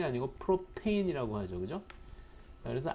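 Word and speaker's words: propane: 집에서 쓰는 프로판 께 쓰는 프로판 이 아니고 프로 페인 이라고 하죠 그죠 그래서 r 케인 중 가장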